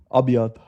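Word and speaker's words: أبيض: Abiad.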